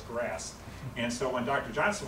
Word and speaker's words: GRAS: is the acronym said it's pronounced as grass and so when Dr